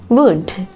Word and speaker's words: would: Would. දැන් මෙතන W-O-U-L-D. අපි මේක pronounce කරනකොට මේ L silent වෙනවා. අපි L pronounce කරන්නේ නැහැ. It's pronounced like would.